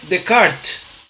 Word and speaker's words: Descartes: errei você também errou a pronúncia certa é de kart porque esse cara era francês então só para vocês